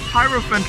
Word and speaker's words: Hierophant: Hierophant rhymes with elephant, just like Hierophant Green.